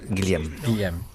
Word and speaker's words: Guillaume: We need to settle on a pronunciation. It is Guillaume, isn't it? Guillaume, yeah, Guillaume. Guillaume.